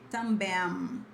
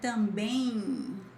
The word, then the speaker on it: também: It's not M. You're not gonna say também, but it's like também, like in, something like this. All of this in is this part.